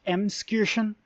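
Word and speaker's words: Emskirchen: in Franconia hi editing Noble here it's actually pronounced M Excursion which I didn't know that's how it's it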